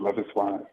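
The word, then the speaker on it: Loveis: love is wise yes their name is it's pronounced love is and they did I mean it's just an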